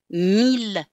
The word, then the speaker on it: mille: For some reason, the language evolved to say that ILL can be pronounced either il, or like in the exception, mille, ville, tranquille, and the words that come from it, million, milliard, etc.